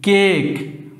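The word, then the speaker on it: cake: তাহলে সি এর পরে এ আছে, তাহলে সি এর উচ্চারণ হবে কয়ের মতন, সি এ কে ই, কেক, ওই জন্য এখানে কয়ের উচ্চারণ হয়।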